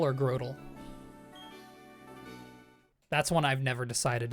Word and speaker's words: Grotle: I always think Grotle because grow. Turtle, you know?